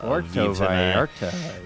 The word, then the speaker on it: Puerto Vallarta: We're going to, how do you say, Puerto Vallarta? Puerto Vallarta.